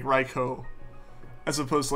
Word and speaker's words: Raikou: strike out some urban Raikou like getting out of it strike oh yeah definitely go though we're like raikou cuz it lines up with like the Japanese Way of pronouncing or pronounced like stuff gaming st.